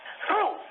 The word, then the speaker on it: through: the ch fear t h r o u g h is pronounced true true that's what I